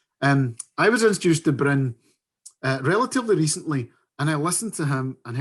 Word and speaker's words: Bryn: today thank you shannon thank you for such an accurate pronunciation of my name which is which is a rare delight most people call me brian at first attempt so i'm really happy